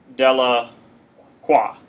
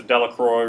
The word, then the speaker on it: Delacroix: It would be French, and the pronunciation would be Delacroix, and then it has changed to Delacroix or Brian, how did you say it?